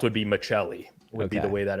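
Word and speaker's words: Maccelli: yeah the way that it's spelled would be macheli would be the way that it would be pronounced um but he's saying Michelli for Calder so I I looked I looked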